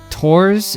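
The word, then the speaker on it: Thors: Also, after having watched this episode again, I'm feeling that our main guy, his name would be more pronounced Tors, at least that's how they say it.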